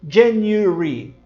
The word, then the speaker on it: January: Os americanos dizem January, mas os britânicos dizem January. Eles praticamente cortam o som deste A, dizem January. Vem comigo, January.